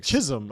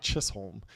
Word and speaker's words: Chisum: Chisum apparently, not Chisolm. Chisum.